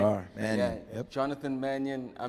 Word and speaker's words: Mannion: I'm pronouncing it right. It's Mannion, Sure right? are. Mannion.